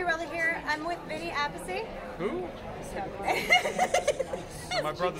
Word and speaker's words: Appice: here I'm with Vinnie apacy my brother says in peace change is the pronunciation to a piece in 1976 and ever